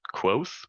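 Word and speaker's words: Kvothe: Now there's a particular book, one of my favorite books, the main character's name is Quoth, but it's spelled Cvothe.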